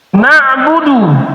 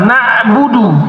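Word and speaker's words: نَعْبُدُ: Na'budu pakai in artinya menyembah. Kami menyembah. Dirubah pakai hamzah. Nab'budu artinya menyendiri. Hanya kepadamulah kami menyendiri.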